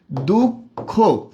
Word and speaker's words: দুঃখ: দুঃখ। এখানে কি বিসর্গের উচ্চারণ হয়ের মতো হয়েছে? না, হয়নি।